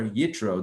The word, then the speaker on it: Yitro: Today is February 2nd, 2021, and we are exploring the Torah portion of Yisro, or Yitro, depending on how you want to pronounce it.